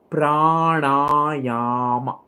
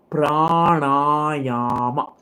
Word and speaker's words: pranayama: Pranayama. Let's pronounce it together first. Pranayama.